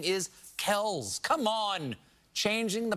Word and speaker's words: Kelce: See, we've all been saying Kelce when it's actually pronounced Chalamet. I am joshing, of course. According to a discussion on Inside the NFL, the correct pronunciation is Travis Kelce.